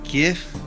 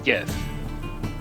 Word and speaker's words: Gith: Like, is it GIF? GIF? How do you say it? Well, the name for the race is Gith.